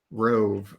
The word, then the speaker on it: Roave: Rove? ROAVE. Roav.